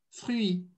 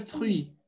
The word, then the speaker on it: fruit: Agora eu adiciono o i ali, que é mudo, né? Então, vai ficar o quê? Fruit, fruit, fruit, le fruit.